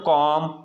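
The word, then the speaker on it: comb: silent Patna है क्या पढ़ना है हमेशा है साइलेंट पादना है ठीक है दोस्तों तो यहां पर कॉम बम बम ये पूरा आपका समझ में ए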